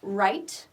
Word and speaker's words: write: so here's the verb write again the W here is silent w we don't say right so right it ends